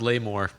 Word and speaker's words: Lamore: It's pronounced Lamore. Lamore. French.